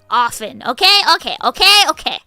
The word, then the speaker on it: often: But like castle, listen, often. Okay. Mistletoe. So. Wrestling. Yes. Good job, guys. そうだよ。なんか日本で英語を勉強すると、 often は絶対 often とか発音しないんじゃないですか。なので、英語母国語の国だと、なんか半分ぐらい t 入っちゃうんだけど、でもそれは間違えていますよ。大間違いですよ。It's often なので日本の方が正しいです。Filet?